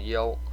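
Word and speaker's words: 幽: Now, don't go mispronouncing the king's name as King Yu, okay? It's Chinese pinyin. It's supposed to be called Yo.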